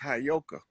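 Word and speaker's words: Heyoka: That word is properly pronounced Hayoka.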